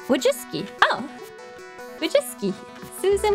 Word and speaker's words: Wojcicki: to how it reads the last c is pronounced like an s so if you strip out the weird stuff it'd be like wojiski oh we just susan wojcicki susan which is